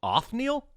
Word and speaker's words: Othniel: name othniel charles marsh o t h n i e l off neil sure yeah sounds right off no charles bart's basically